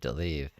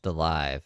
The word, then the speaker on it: Delive: Daisy, I think, calls me Delive, if I remember. But it should be Delive. It's pronounced Delive. My imaginary last name is pronounced Delive.